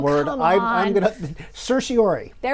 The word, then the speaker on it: certiorari: Will they issue a writ of certiorari or certiorari or certiorari or uh the actual correct Latin pronunciation, I am told by Latin professors, is certiorari, which nobody in the history of lawyers has ever used in their life.